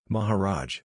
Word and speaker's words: Maharaj: I said, "I quite understand, the word is, Maharaj. This word is Hindustani with a Sanskrit root, the A's pronounced hard like, ah, and it means great ruler, Maha, great, and Raj, rule, dominion, state."